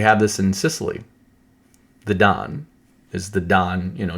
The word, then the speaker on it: Dan: tribe that is pronounced, it says Dan, but it's pronounced Don. When we see the tribe of Dan, it's pronounced Don, like how we would say D O N.